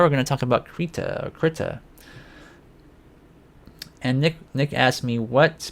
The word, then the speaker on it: Krita: So now the other week I mentioned something, a program that is open source called Krita or Krita. I'm not really sure how you pronounce it. It's Krita, and so I've been doing some experiments with it.